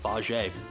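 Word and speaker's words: Fage: Um, in case you're wondering, by the way, they do tell you how to actually pronounce it on the uh container. And they even tell you on the container it's pronounced faj.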